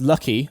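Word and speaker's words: 락희: two original company names raku pronounced lucky a chemical industrial corp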